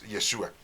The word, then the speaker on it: Yeshua: es su nombre no si es yeshua bueno pues para que doy en adelante si quieres pues ahí tú se lo puedes este estar este pronunciando de esta manera más correcta No qué sigue diciendo